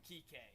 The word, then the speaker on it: Kike: Well, they announced it. They call him Kike. But his name is Enrique, yes.